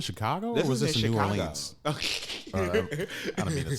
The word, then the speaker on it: New Orleans: Foods, they were like, it's pronounced Nolans. So. Oh, yeah, okay. That's how you pronounce it when you have the terrible accent. Yeah. But, yeah, if you're an English speaking person, you say New Orleans.